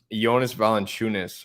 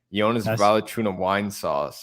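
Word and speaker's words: Valančiūnas: or less um but i will slot in jonas valenciunis or as charles barkley pronounces it yonah's volley tuna wine sauce yeah vaccinating wine sauce something like that yeah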